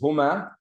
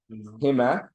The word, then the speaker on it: هما: And the pronoun here is huma, which can also be pronounced hima, depending on the haraka or the vowel sign that precedes it.